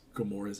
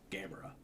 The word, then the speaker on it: Gamora: They one of the guys mispronounces Gamora's name and says Gameamra.